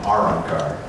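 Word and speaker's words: Arrancar: So let's see, we got the word espada, we've got arankar, which is also pronounced arankar, but we have us put the emphasis on the R, arankar.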